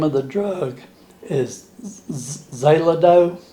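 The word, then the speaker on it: Xeloda: peel and the name of the drug is zelido it's spelled x-e-l-o-d-a and uh this is pills i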